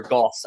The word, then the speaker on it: Gaus: end, but uh DaVon Gaus, uh obviously the or Goss, I believe, is how you pronounce his last name. Uh hard s at the end there to make sure we we get that correct.